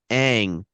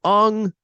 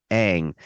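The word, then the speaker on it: Aang: They whitewashed the cast, and the second one, it's pronounced Ang, not Ung. It's pronounced Ang.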